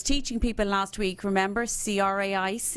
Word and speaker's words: craic: people last week remember CRA IC is the Irish word for fun pronounced craic not to be confused with the illegal substance so I'm sure there's